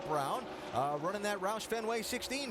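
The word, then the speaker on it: Braun: Yes, I know the way it's spelled. He pronounces it Brown.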